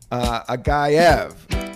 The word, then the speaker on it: Agayev: Agayev, right? Did I say it right? That was correct.